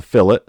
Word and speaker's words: fillet: It looks like it's spelled fillet, like a fillet of fish, but it's a fillet.